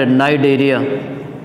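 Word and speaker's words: Cnidaria: क्या बोलेंगे बताइए, सिलेंट्रेटा, सी साइलेंट, नाइडेरिया.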